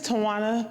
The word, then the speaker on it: Toana: lot stop the chair okay my name is toana that is spelled TW w n a p e